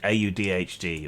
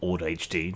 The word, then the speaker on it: AuDHD: hasn't already been said it's the audhd or OD HD depending how you say it Maniac pixie nightmare